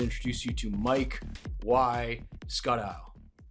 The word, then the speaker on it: Skoddow: you to Mike why Scott owl did I pronounce your last name right Mike yes this is pronounced correctly thank you awesome and